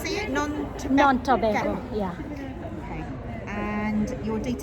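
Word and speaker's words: Nontobeko: Non-Tobago, yeah.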